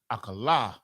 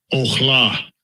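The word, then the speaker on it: אכלה: Let's hear how they pronounce it. I'm interested in this one because, you know, we have 3 syllables here. And this is where it really gets funny. Akala. Strong's H402. Ochla.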